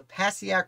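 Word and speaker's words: Passaic: dumping the water out to the paciak river i believe it's pronounced and he does this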